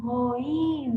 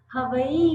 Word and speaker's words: hoi: So as we can see, normally on YouTube we hear Padamam Havai Mangalam, but the real pronunciation is Hoi Mangalam, because it makes a